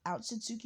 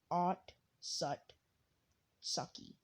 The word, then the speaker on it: Otsutsuki: name is mamashiki otsutsuki now listen if you pronounce it and look at the word right it's at it's not out suzuki because there's no you and it's not on sutsuki because i'll just because when you pronounce like if you pronounce it and look at the words right it's odd sucky which i know that